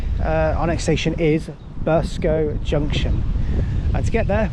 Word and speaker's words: Burscough: And we're going to go into uh, Burscough Burscough Junction that's how you say it.